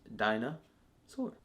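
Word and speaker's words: Dinah Soar: boy obviously his girl dinosaur I say it like that because her name's not dinosaurs Dinah sword also Mr mortal is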